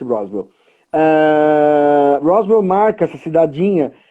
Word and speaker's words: Roswell: Roswell, pronuncia-se Roswell.